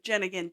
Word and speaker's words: Jenneiahn: like Homan Homan jiggity jig but it's jigan jenan jiggity jig jenan knew how to have fun and was kind to everyone she came in contact with she was also a non-nonsense no fluff type of person jenan is known to be a very nice old